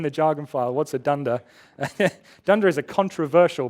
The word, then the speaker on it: dunder: underscore underscore something and we sometimes pronounced that as dunder although there are small